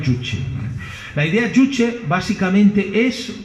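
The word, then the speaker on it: 주체: conocemos como idea juche se escribe que la mayoría de personas la pronuncia como juche pero se pronuncia coreano chuchi la idea juche básicamente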